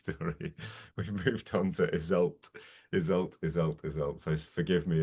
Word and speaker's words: Iseult: were doing and she heard that we were pronouncing it as is older she flew into a mild but she was holding back I think a bit of a fury she wasn't happy that we'd gone for the Germanic so for the rest of that story she was hisult the Irish pronunciation so maybe honoring the